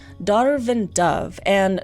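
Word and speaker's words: Damh: They're called Darv and Dove, and Darv is spelled D-A-M-H, and I only know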